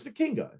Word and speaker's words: Vikingo: Yeah, it's Vikingo. El Hijo del Vikingo. Rich Swann, I can pronounce that.